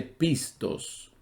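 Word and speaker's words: πιστός: en el mismo griego se escribe y se pronuncia también similar pistis pistis y que la palabra fiel o creyente se dice pistos entonces digo esto porque los tres tienen una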